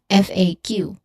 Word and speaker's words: FAQ: We pronounce it by letter FAQ.